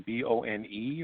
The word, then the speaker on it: Bon: And is that bone as in B-O-N-E, or how do you spell that? It's B-O-N, bone. Oh, B-O-N, and bone.